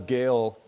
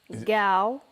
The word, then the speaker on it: Gal: So now in this, and I guess it was Gail, Gail. I know it seems like, is it Gal? That's what I'd like to know too.